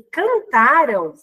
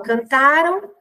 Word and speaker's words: cantaram: eu digo sempre assim cantarão muda a tonicidade né então a sílaba tônica é a última sílaba então a palavra ela é oxítona e cantaram a sílaba tônica é a penúltima ela tá então existe mudança de sílaba tônica né então cantaram tá falava paroxítona cantarão não palavra oxítona tá então mudou aí